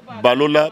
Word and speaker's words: Balola: Nous les Kino on dit Balola, Balola, Balola.